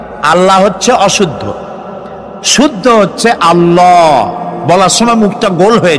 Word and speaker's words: আল্লাহ: আল্লাহ নয় কিন্তু আল্লাহ হচ্ছে অশুদ্ধ শুদ্ধ হচ্ছে আল্লাহ বলার সময় মুখটা গোল হয়ে যাবে বলেন তো সবাই উচ্চারণ করেন আল্লাহ আবার বলেন আল্লাহ আবার বলেন আল্লাহ সুবহানাল্লাহ কি